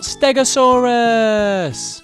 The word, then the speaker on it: Stegosaurus: Today we're going to learn all about Stegosaurus!